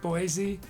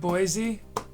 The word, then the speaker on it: Boise: that you know what's pronounced boise boise not boise oh that's too bad